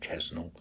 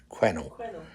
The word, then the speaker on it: Quesnel: now experienced Vancouver to Quesnel. It's not Quesnel. They don't pronounce the S. Quesnel. From Vancouver to Quesnel to Whistler to Jasper.